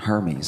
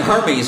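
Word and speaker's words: Hermès: Spent money on Hermes. I didn't even know what Hermes was. Luxury bags. Hermes. They're Yeah, they're Hermes. Hermes. It's pronounced Hermes.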